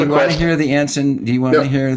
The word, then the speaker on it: Anson: We'll let it go because you let go of my pronunciation of whale. Actually, I should have said Anson.